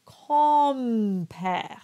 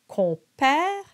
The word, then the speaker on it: compère: con and père, and the M is simply not pronounced. It belongs to the O to give it that nasal quality.